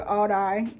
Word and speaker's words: Aldi: Go to Aldi. That's the right pronunciation.